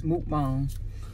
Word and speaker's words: mukbang: Teach said it's mukbang. My bad. I gotta find a correct. She told us that we weren't saying it right. Right, it's mukbang.